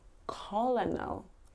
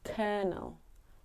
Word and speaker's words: colonel: you think it looks like it would be colonal but it's not it's kernel kernel the colonel told his officers to get